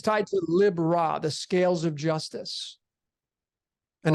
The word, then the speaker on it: Libra: You have Lib Ra. People call it Libra, but it's the pronunciation Lib-Ra.